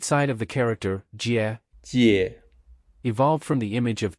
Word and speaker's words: 姊: To associate the character's visual form with its pronunciation, we borrowed Captain Jack Sparrow's image and used two Jacks as sedan chair bearers.